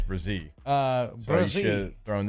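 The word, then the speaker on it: Bresee: Well, he was saying Brian Breesy like the national guys when it's Brazil.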